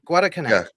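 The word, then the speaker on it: Guadalcanal: uh not Granada I don't know how to pronounce it guada guada Canal that's it oh guad yeah guad Canal uh five five Destroyer escorts the USS Pope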